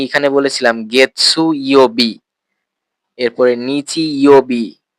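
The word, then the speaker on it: 日曜日: খেয়াল করেছেন আমি এখানে বলেছিলাম গেছসু ইয়বি এরপরে নিচি ইওবি কা ইয়বি কিন্তু আপনারা যদি একটু ভালো করে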